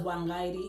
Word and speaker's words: Wang: I'm also seeing Dylan Wang, pronounced as Wang in Mandarin, for the very first time in a drama.